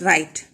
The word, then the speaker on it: right: W is silent when you pronounce the word right.